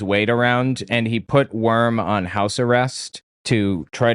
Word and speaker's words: Wurm: There was a bishop, high up leader in the church named Theophil Worm, or Wurm, as the Germans would pronounce it, I think.